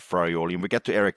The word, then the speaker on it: Farioli: I think Fiorioli is our Farioli. I think I mispronounced the first in there.